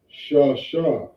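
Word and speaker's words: שש: You learn to pronounce a Shah, you would read this in Hebrew, Shah Shah. Okay, that's the correct way to pronounce this word.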